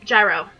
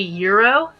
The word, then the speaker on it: Gyro: At least that's how I pronounce it, only because he actually uses, like, gyrospheres. If you were pronouncing it like food, it would be Euro. But gyrosphere makes me pronounce it gyro.